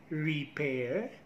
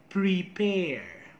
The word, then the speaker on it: prepare: pronunciation people say practice repair and refer which is wrong how to properly pronounce it do not forget the first sound this is consonant clusters practice prepare prefer practice prepare prefer